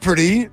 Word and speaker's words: Purdy: like wait a minute Brock pretty rhymes with chocolatey and I'm thinking gosh